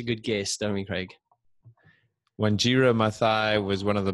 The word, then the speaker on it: Wanjira: So today, Wanjira, am I pronouncing it correctly, Wanjira? Yes, Wanjira.